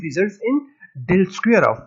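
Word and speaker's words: ∇²: Usually the operation del dot del is abbreviated del square and pronounced del square, a good reminder of the second order partial derivatives appearing in 5.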